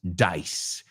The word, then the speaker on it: dice: Dice rhymes with rice, rhymes with lice, piojos.